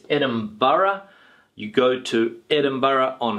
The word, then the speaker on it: Edinburgh: When we have this particular word here, the pronunciation is Edinburgh, okay, Edinburgh. It's not Edinburgh, all right, it's Edinburgh.